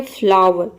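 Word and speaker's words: flower: अगर वोवेल आता है तो OW को हम औ प्रोनाउंस करेंगे, औ। जैसे कि देखिए यहाँ पे एग्जांपल है फ्लावर, ये होता है फ्लावर।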